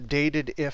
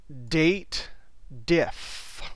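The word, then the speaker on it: DATEDIF: going to use the dated if function it's actually not I always mispronounce it it's the date diff equals date diff this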